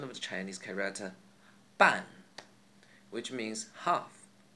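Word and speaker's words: 半: An, the sound doesn't exist in English, but it's pretty close to the an in ban. We only need to open our mouths wider.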